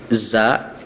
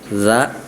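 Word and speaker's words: ز: Selanjutnya huruf za dan zo ini hampir sama nih. Zai dan zo hampir sama padahal berbeda. Kalau zai lebih ada getaran dalam pelafalannya za.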